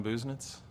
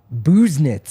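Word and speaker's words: Busenitz: that let's see what Alan's real last name pronunciation is Alan business Alan business booze knits who's knits booze knits like you know you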